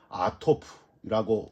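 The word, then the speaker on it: עטף: 61편, 마음이 약해질 때라는 단어가 히브리어로는요 아토프라고 발음을 하는데, 이 아토프는 우물을 덮고 있는 바위를 뜻합니다.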